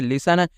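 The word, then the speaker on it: listen: क्या पढ़ना है इसे लिसन इसे आप लोग क्या दोस्तों लिस्टन पढ़ेंगे नहीं इसे आपको लिस्टन नहीं पढ़ना है यहां पे आपको टी य को साइलेंट कर देना है ठीक हैना यानी टीय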